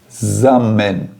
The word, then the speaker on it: zusammen: O Z tem, que é o Z alemão, ele tem um som de TS. TS, zusammen. Tá? Zusammen é a forma como você vai pronunciar essa palavra.